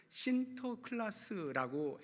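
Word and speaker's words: Sinterklaas: 니콜라오 이렇게 이제 불렀는데 그게 네덜란드 발음으로 신터 클라스라고 해요 그것이 이제 영어로 하다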